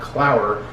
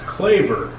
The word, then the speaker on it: Claver: I had to message Kyle back on Instagram, and it's not Clower, it's Claver. Apparently I don't know how to pronounce last names.